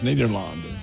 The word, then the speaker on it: Nederland: It does say Ned on there any day, and that's because the European pronunciation is Nederland.